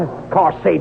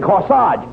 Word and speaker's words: corsage: where no no not of course Sage you mean no no no you mean corsage age is pronounced Arch as in corsage and garage where did you get